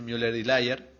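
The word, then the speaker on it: Müller-Lyer: de las líneas de muler layer se pronuncia así muler layer una línea parece más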